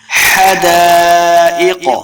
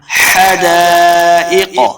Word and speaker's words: حدائق: کو لمبا کریں گے حدائق قاف کو موٹا پڑھیں گے لمبا بالکل نہیں کرنا حدائق واعنابا دیکھیں پہلا ہے